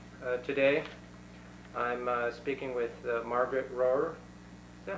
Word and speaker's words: Rohwer: For 40 years, I knew it as Royer, and for the next 40, I pronounce it Rohwer.